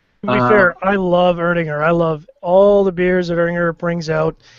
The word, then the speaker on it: Erdinger: The second one that I picked up was Erdinger. Is that how you say it? Erdinger, yeah, that's how you say it.